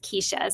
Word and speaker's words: Kersia: Um and even though it's spelled Kersia, it's actually pronounced Kesha. So, so Kesha and I were um and still are.